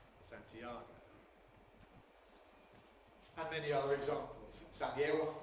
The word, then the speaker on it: Santiago: The Spanish city of Santiago in Spanish has three syllables. Santiago. In English, how many syllables does it have? Four. Santiago.